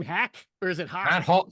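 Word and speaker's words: Haack: what's the guy's name hack or is it Hawk hul spelled hack but pronounced Hawk and I pretty certain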